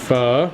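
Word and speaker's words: phở: Pho.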